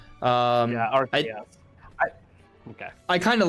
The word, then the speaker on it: Arceus: Taker said it's pronounced Arceus. Arceus.